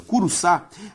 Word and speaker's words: Curuçá: Curuçá tem como sílaba tônica a última, logo uma palavra oxítona.